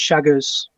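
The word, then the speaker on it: Chagas: pronounced it will spell c-h-a-g-a-s but um obviously pronunciation is shaggers and uh yeah i think in the us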